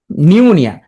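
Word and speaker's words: pneumonia: প্রথমটি উচ্চারণ হবে না নিউমোনিয়া তাহলে পি উচ্চারণ হচ্ছে না নিউমোনিয়া প্রথম পি আছে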